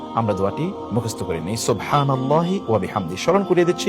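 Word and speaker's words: سبحان الله وبحمده: সুবহানাল্লাহি ওয়াবিহামদিহি। সুবহানাল্লাহি ওয়াবিহামদিহি। শুদ্ধ করে বলুন। সুবহানাল্লাহি ওয়াবিহামদিহি। সুবহানাল্লাহি সিন এর উচ্চারণটি শুদ্ধ যেন হয়।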